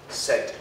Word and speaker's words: said: This sound here is the E. Said.